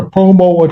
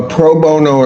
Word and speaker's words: pro bono: Uh, I may not be pronouncing that correctly. A lot of denture work done. Proono. Proono attorney. Yes. A pro bono attorney.